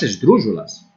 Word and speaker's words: esdrúxula: Vamos ver agora as palavras esdrúxulas. As palavras esdrúxulas têm a vocal tônica na antepenúltima sílaba e elas sofrem acentuação sempre.